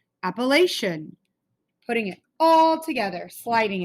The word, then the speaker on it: Appalachian: So if I didn't know how to pronounce that, it says a, lay, she, un. And then just like we chop out our words and slide them all together, Appalachian, Appalachian.